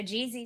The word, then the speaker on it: GZ: So GZ is obviously for Ground Zero. GZ, that's how you say it.